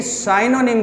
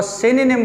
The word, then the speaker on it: synonym: तो स्टूडेंट्स ये पॉइंट याद रखें कि synonym में इस y को अगर आप ई प्रोनाउंस करें तो ये ज़्यादा बेहतर होगा, यानी साइनोनिम की बजाय अगर आप इसको सिनोनिम प्रोनाउंस करें तो ये ज़्यादा बेहतर होगा।